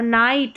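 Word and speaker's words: night: अब यहां पर देखिए लाफ इनफ। यहां पर फ जी एच को फ और नाइट में जी एच जो है साइलेंट है। नाइट में जी एच के बाद टी आ रहा है ना तो वहां पर साइलेंट है।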